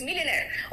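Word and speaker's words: millionaire: Last में आर आता है तो थोड़ा साइलेंट हो जाता है। है ना? थोड़ा सा वो सॉफ्ट हो जाता है। इट्स मिलनेयर।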